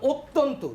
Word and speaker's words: অত্যন্ত: দেখো, আমি উচ্চারণ করলাম অত্যন্ত, লিখেছি কি বলতো, অ দিয়ে লিখেছি, কিন্তু উচ্চারণ হচ্ছে ও এর মতো, অত্যন্ত।